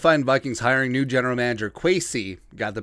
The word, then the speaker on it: Kwesi: With the Minnesota Vikings hiring new general manager Kwesi, got the pronunciation right, Adofo-Mensah, the path to the Vikings trading quarterback Kirk Cousins to the Cleveland Browns has never been clear.